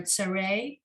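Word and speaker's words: צירה: 2 dots horizontally are Tsare. They sound like A.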